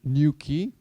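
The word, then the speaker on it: Nuki: neighboring Austria in Graz a startup called new key you can pronounce it new key we have it in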